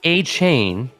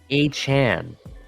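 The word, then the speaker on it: Achane: ready lay it on it is not a chain as in if you're spelling a chain like c-h-a-i-n it's pronounced a Chan c-h-a-n interesting yeah so thank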